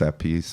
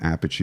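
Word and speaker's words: Appice: still I think and there's controversy about how to say his name. Sometimes they say a piece, right? I think technically it's a piece but I think Carmine doesn't mind if you call him Apache because everybody you know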